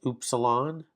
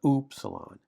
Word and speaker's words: upsilon: So that's upsilon. And it's like the French, not the English, oo, oo, oo, oo.